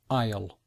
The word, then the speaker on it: aisle: difficult pronunciation it begin you don't hear the letter S and it's not really you don't really hear the letter A either so we say aisle so this is the aisle because this is the